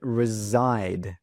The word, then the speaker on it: reside: Now, listen to that pronunciation reside. Resside. That s sound actually sounds like a zed sound.